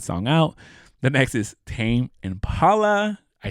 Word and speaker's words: Tame Impala: The next is Tame Impala.